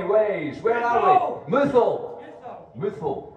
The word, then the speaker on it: Muthil: Muthil, right, now we know.